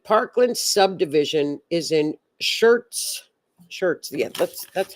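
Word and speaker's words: Schertz: Shirts. Yeah, that's that's how you pronounce it. Yeah. Shirts, Texas.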